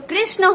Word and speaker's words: कृष्ण: जब नाम लिखते हैं तो कृष्ण होता है, कृष्णा नहीं होता है। लेकिन चूंकि एन के आगे ए लिखा होता है तो लोगों को लगता है कि कृष्णा है, कृष्णा नहीं है, कृष्ण है, पूरा ना।